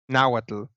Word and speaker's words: Nahuatl: Yeah, that is I'm blanking on how you pronounce it. Nahuatl? Nahuatl.